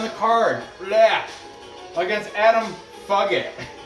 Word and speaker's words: Fugitt: Taking on Adam Fugitt. I'm sorry, Adam Fugitt. I'm pretty sure it's how you say it. Maybe it is pronounced Fugitt. Fugitt.